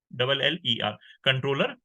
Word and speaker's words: comptroller: कंट्रोलर की spelling में नहीं है, ये COMPTROLLER, कंट्रोलर general of India.